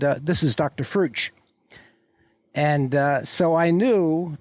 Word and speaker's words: Frueh: By the way, when when you introduce me, remember my name is Fu. It rhymes with true. It rhymes with blue."